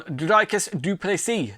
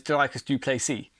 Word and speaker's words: Dricus du Plessis: You've got Robert Whittaker taking on Dricus du Plessis. The D, not the D, the S is silent.